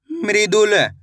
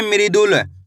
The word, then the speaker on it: मृदुल: म में ऋ की मात्रा मृ द में छोटू उ की मात्रा दू। तो मिलके बन जाएगा मृदुल। कैसे पढ़ेंगे? मृदुल।